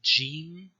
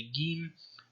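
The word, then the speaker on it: jīm: a Modern Standard therapy you would call it Gene even though in some dialects like a Mastery somebody's from Cairo would say game and many people across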